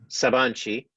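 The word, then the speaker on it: Sabancı: sheet sabang sabang G University Ernest please correcting pronunciation when you take over in a second Saban Chee he's currently working on hardware and software acceleration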